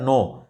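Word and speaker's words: know: जैसे हमने बताया नो तो के एन ओ डब्ल्यू नो है पर पढ़ते एन ओ डब्लू नो हो गया पर वहां पे के क्या हो गया हमारा साइलेंट हो गया तो यहां पे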